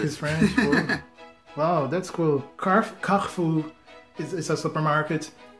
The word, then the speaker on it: Carrefour: Em francês é Carrefour.